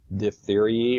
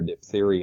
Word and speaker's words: diphtheriae: good example is corenobacterium diphtheriae or diphtherii a couple of different pronunciations for that that causes the very